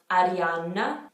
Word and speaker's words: Arianna: saw before anna anna you want to have that double n so arianna ariana and for ariana grande